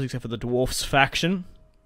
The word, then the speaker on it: Dwarfs: I don't particularly care about the Dwarves except for the Dwarfs faction. I say Dwarfs because that's what they are, not Dwarves. They're spelled D-W-A-R-F-Fs. They're pronounced Dwarfs. And in Tolkien's, it's Dwarves.